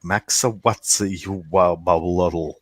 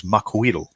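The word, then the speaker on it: Macuahuitl: Now, when you look at the name and the way it's written, you're like Maxawatsi, and then there's a big long L sound at the end.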